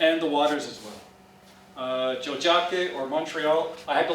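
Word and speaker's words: Tiohtià:ke: I said, well, obviously, it's the way it's spelled. So we got the prize, so it's Jojake.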